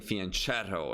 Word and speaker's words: fianchetto: but i know that everyone else is saying fianchetto especially in british or american english right that's the way to pronounce it is it advisable to go for